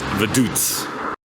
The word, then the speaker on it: Vaduz: We've been saying it wrong all day long. It's Vaduz.